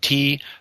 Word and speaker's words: Twogood: My last name is spelled Twogood, like the number 2 and good.